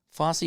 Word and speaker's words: Fosse: Fosse rhymes with Bossy.